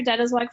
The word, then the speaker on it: Deitelzweig: Dead is like for joining us oh you're most welcome Kat and really appreciate you even pronouncing my name correct I am like your